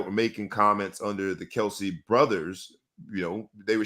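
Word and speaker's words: Kelce: thing that's crazy so Kelsey is what we call them but according to Jason their last name is pronounced Kels but everybody just says Kelsey so that's just crazy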